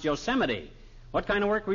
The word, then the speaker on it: Yosemite: No, not Yosemite, old-timer. That's pronounced Yosemite.